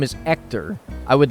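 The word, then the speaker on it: Héctor: name as actor because the H is silent in Spanish very understandable mistake to make then right if you say hello my name is ector I would like a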